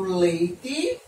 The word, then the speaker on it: leite: Então, eu escrevo leite com E, mas eu pronuncio como se fosse a letra I.